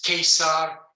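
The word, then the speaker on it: Caesar: but they pronounced it and so it's kesar it's a circus kill casp or kerkus so it was k all along and it's only when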